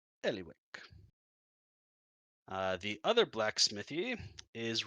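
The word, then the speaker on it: Ellywick: e l l y w i c k Ellie Wick uh the other blacksmithy is run by a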